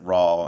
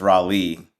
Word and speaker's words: Rawle: to say it or they would pronounce it raw and they like I'm so sorry if I said it wrong. I'm like no that's right. And then I would say it's Raleigh.